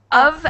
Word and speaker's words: of: of and off. The of is said more like with a v sound and it's it's kind of pronounced like u v of and off.